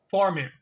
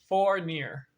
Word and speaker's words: Fournier: Jack Fournier. Fournier. We spell it F-O-U-R, so four, and then near, N-I-R, N-I-E-R, Fournier.